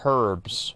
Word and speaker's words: herb: know it's not no it's pronounced herbs right that's why there's the H at the beginning herb okay one second here